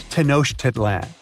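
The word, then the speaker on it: Tenochtitlan: It's tanoshedlan. And Mayan cities are hard to pronounce too.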